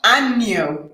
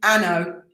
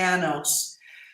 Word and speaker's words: año: Feliz año nuevo. Not feliz anno, as Graham used to say. Cuánto tiene años?